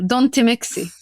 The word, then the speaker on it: Don't Mixi: Well, Don't Mixi. Don't is how you pronounce it in Egyptian.